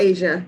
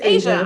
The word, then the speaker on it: Aja: Aja put 2, and am I saying it right? Is she put 2? It's Asia. It's Asia.